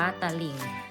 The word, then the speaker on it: ตลิ่ง: หรือ เปล่า ค่ะ เต็ม ตลิ่ง นะ คะ อ่าน ว่า ตลิ่ง ส่วน ของ ฝั่ง ที่